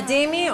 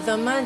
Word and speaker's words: dhimmi: A dhimmi or a dhamma, depending on the pronunciation, is a tolerated people.